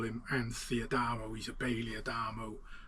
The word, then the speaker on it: Anth: But my gramps always pronounced the H for some reason. He was always Anth, and no one else called him Anth other than my gramps.